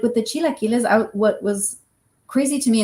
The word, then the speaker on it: chilaquiles: Because he calls them chiquiles. So you're probably saying it better. Chilaquiles.